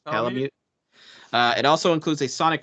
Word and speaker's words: Palamute: Am I pronouncing that correct? That's right. Correct. Yeah, Palamute.